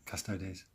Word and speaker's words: Custodes: is a long-awaited Prospero and Custodes, or so Custodes is the correct way to say it.